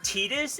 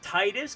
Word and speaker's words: Titus: to like hear that his name is tetus and not Titus because there was a show on Fox with the comedian whose names spelled the exact same and they pronounced it Titus and I was like what the and I'm pretty sure they call him Titus and Kingdom Hearts but um no they call them tetus do they I don't